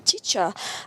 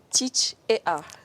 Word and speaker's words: Teach'Ar: Teacher ou bien teach et art? C'est quoi la bonne prononciation? Après des analyses, nous avons opté pour teacher. Tout simplement. Teacher. Mais c'est écrit teach et art.